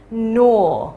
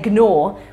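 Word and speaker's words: gnaw: bone that's number six nor and that is spelled g n a w and we don't pronounce the G so we don't say Gore we say no okay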